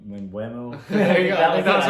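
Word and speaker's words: Mbeumo: Mbuemo.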